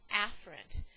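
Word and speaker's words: afferent: cord another way of saying this is aarant now it's really pronounced affrant but for the sake of online learning I want to make sure you hear me enunciate so I'm going to purposely pronounce that word in the incorrect way so anything that's incoming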